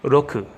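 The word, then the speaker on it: ろく: home anyway then six Roku Roku roll it's just straight up Oh with an R in front of it but they're ours are pronounced differently but you can be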